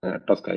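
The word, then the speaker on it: TSCA: is Pasa okay TCA Tusa means tuska it is spelled as t s c a okay tuska is generally inated as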